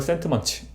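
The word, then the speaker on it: Sentiments: 영어 원제로는 발음이 좀 구리긴 한데 Theory of Moral Sentiment 더 센트먼트가 아니라 츠 뒤에 s로 끝나요.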